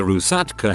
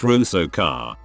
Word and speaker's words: Rusalka: the earth as a Rusatka who lures men and kills them by doing a dance or a tickling motion. That's all I got. It's Rusalka, pronounced Rusoka, and a similar demon